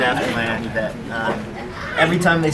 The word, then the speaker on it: Yves: what I mean so I've always thought it was Eve I've thought it was e until um I saw um John Terio fight and it's John Eve and his name is spelled exactly the same way okay so so you